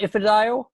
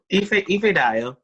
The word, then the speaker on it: Ifedayo: Do you pronounce it Ifedayo? Yeah. Ifedayo.